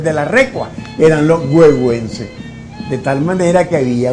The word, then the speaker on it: Güegüence: Se escribe huehuense por C, porque así se pronuncia, huehuense, y así está escrita la obra.